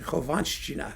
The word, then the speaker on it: Khovanshchina: Actually, it's not hard to pronounce the double SH thing in Russian. Khovanshchina. See? It's easy.